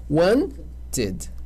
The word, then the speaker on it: wanted: Posso duplicar o som? Wanted? Não. Vai ganhar sílaba. Wanted.